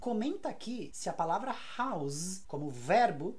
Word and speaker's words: house: eu falo com s House se for o verbo abrigar fornecer uma casa ou fornecer um abrigo eu falo com z House E aí fica housed e housing enta aqui se a palavra house como verbo é novidade